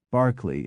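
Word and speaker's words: Berkeley: particularly in proper nouns such as Darby Barkley and barkshire though there are many exceptions and inconsistencies as with the town of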